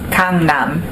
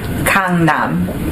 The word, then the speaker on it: Gangnam: It's pronounced Gangnam. It's pronounced Gangnam. Say that again. Gangnam. So the G sounds like a K.